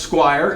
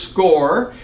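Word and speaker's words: SCOIR: We have a program called SCORE. A lot of people look at it, S-C-O-I-R, and think that it's pronounced Squire. It is SCORE.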